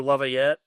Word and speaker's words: Laviolette: Like I did see Peter Laviolette. I can never pronounce his name properly.